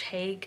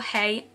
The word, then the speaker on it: Haigh: murders, or John George Haigh, or Hay. I would have pronounced it Hay because it's got like a G and an H at the end, and sometimes that's silent,